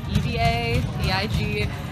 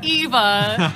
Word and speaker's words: Eva: It's EVA, It's pronounced Eva, not Eva.